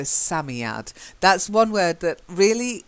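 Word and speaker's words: Psammead: a Sat Samy add I think it's a silent P like Psalm so Sammy add that's one word that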